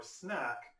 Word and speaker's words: SNAc: acyl Center AC so when you see the kind of an abbreviation or acronym SNA c e or snack what we're describing is